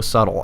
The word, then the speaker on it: subtle: No apostrophe in the it's, just ITS, not so subtle. And for you dummies out there, subtle is spelled SUBTLE.